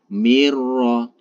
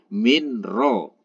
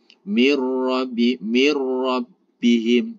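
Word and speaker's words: مِنْ رَبِّهِمْ: Cara membacanya gimana? Cukup memasukkan nun ke dalam ro ini ditekan tanpa didengungkan. Mirro, mirro. Nah, itu yang benar. Mirro, jangan sampai minro. Minro, apalagi didengungkan minro. Nah, itu salah.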